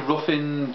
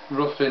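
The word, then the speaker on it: Ruthin: Went to Ruffin Jail. I think it's pronounced Ruffin. My daughter reckons it's Ruffin because the name Ruth is R-U-T-H. But Ruffin in Wales is spelled R-U-T-H-I-N. Right, I reckon it's Ruffin and Jail.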